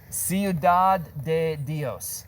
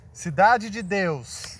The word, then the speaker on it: Cidade de Deus: Ciudad de Dios. Cidade de Deus.